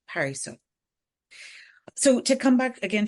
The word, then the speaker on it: Parissa: Too often I would say I'm Parissa, and I now much more intentionally call myself Parissa.